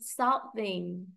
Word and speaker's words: solving: Thì các con nhớ từ solving, solving, trọng âm từ cao xuống thấp.